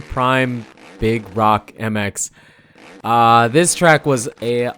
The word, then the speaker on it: Prim Big Rock: prim big rock MX prim Prime it's it's spelled different but prim prime big rock MX this track was